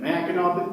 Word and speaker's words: Mackinac: Now, anybody who grew up in Michigan or took a family vacation on Mackinac Island knows that Mackinac ends with a silent C, not a W.